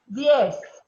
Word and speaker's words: diez: Remembering the E is a long A and the Z is an S.